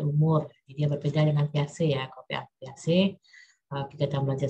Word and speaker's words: Piaget: Jadi Piaget itu tulisannya itu Piaget ya, dibacanya Piaget.